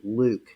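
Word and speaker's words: LIWC: count Li IWC and I know it doesn't sound or S appear to to be pronounced this way but we call this Li IWC Luke It's the Luke program and the Luke program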